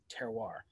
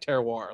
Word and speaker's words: terroir: the time which is terroir right a very important word for any aspiring wine geek is the closer to french you want to pronounce it it always takes that